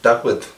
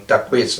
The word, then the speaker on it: Takwit: The Cahuilla, because it's a Cahuilla name, is more like Takwit, like a little bit lisping, Takwit, rather than Takwitz. There is no sound in Cahuilla of quits like that.